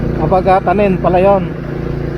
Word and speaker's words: Abagatanen: Abagatanen beach resort. So mali yung binibigkas natin kanina mga kalagalag. Abagatanen pala yon.